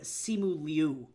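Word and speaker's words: Simu Liu: but he pronounces his name Simu Leu or Simu sometimes when doing interviews.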